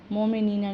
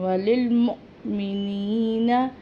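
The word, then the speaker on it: وللمؤمنين: वलिलमुअ्मिनीना, मोमिनीना नहीं पढ़ना, वलिलमुअ्मिनीना यौम यक़ूमुल हिसाब, हिसाब हा हलक से निकलेगा।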